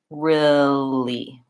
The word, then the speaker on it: really: e really really but for many people including myself we don't really say really that way really we say it more like this really really so that first eel eel in real gets shortened and reduced to an in sound really really same as it would sound in the word silly or hilly so what might help